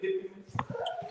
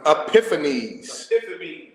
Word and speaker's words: Epiphanes: And there came out of them a wicked group, Antiochus, surnamed, how you say it, Epiphanies? You see? Epiphanies? You're in 10, right? Epiphanes, son of Antiochus the king, who